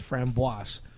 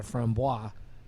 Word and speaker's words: framboise: those who speak French, if it has an E after the S, you pronounce the S, so it's framboise.